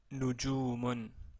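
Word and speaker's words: نجوم: Donc j'ai prononcé Nujumun. Donc la première son que vous entendez, c'est nu, marqué ici en rouge.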